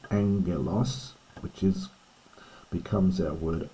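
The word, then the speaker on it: ἄγγελος: Angelos, notice the double gamma. So the first one's pronounced like an N. Angalos, which is becomes our word angel or messenger.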